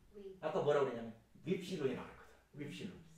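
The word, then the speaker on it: ὖ ψιλόν: 윕실로. 이름만 놓고 보면 앞에 엡실론이 있었어. 네. 엡실론은 명칭이 중요하다고 했어요. 명칭이 음과라고 했어요. 엡실론이니까 에 발음이 났어요. 근데 지금 윕실론이라고 했어요? 윕실론이니까 위 발음이 나.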